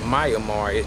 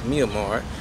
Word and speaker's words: Myanmar: In the country of Myanmar, right, some brothers pronounce it Myanmar. No, it's Myanmar.